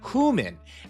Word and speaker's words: HU:MIN: And that's exactly who our artist is today, and this is Human. And the way they spell it is super fun. It's like Human. It's not to be confused with human, all right?